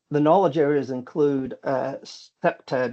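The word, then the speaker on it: CPTED: And the knowledge areas include uh SEPTAD, it's pronounced SEPTAD.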